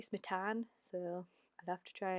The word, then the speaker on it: Smitan: I keep pronouncing it Smitten as in like kitten, and it should be Smitan, so I'd have to try and keep that in mind.